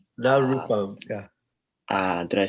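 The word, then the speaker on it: na rūpam: And then, although the word na means no, we want to say na rupam.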